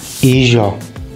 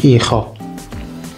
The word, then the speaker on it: hijo: So the Ladino pronounces the J like the French do. Well, the Spanish pronounce it like the Spanish do. That makes sense, right? So sun is hijo in Ladino, but in Spanish, hijo.